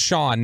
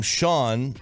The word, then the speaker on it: Sean: the show name right the name Sean is pronounced like Sean Connery sh like a big aw then an N okay and the way Sean Sharif is spelled is or pronounced as sh a big a h and then an n what it how